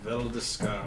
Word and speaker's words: Veldeskar: Valdis. Veldeskar. If you were to spell it, VELDY.